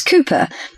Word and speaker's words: Cooper: Madam my name is the surname is Cooper it's spelled as c o o p r fine